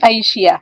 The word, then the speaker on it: Aisyah: name only different pronunciation we address more on the aishiya okay yes so we have yeah at the end so i but i think the the the meaning is similar with with your name actually yeah only different syllable and the pronunciation but it is aishia we call it and thank you for